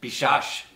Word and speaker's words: Biswas: How would you actually say Biswas? Bob Bishash. Bob Bishash. That doesn't make any sense. None whatsoever. I mean, that's the bingo. You just don't pronounce W.